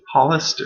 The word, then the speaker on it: Hollister: It's Hollister, in case you didn't know. Cool name, huh? It's like the store.